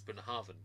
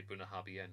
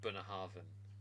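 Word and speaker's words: Bunnahabhain: actually like one of my favorite whiskies is Bunah Haraven and I never knew how to pronounce it until I looked it up one day and until then me and David would laugh and we just say bunaben because we thought it's hilarious.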